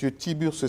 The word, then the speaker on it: Tiburce: Tiburce. Lui, il est le guide spirituel de l'ordre des Aïniens. J'ai bien prononcé, M. Tiburce? Oui, oui, merci.